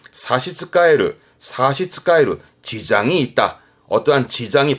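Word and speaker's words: 差し支える: 이 사스에 또 뭔가 지장의 의미가 있어서 지장의 지자, 요걸 써가지고 발음은 사시츠카에르, 사시츠카에르, 지장이 있다.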